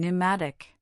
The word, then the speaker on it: pneumatic: In words derived from Greek, the initial P in the diraph PS is silent as in psychology, pterodactyl and pneumatic.